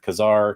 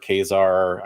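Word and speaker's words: Ka-Zar: the first appearance of Kazar kesar I know people like to pronounce that different ways uh but it's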